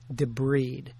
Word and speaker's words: debride: It is pronounced, by the way, debride. Debride is the woman who walks down the aisle of the church. You don't debride a wound.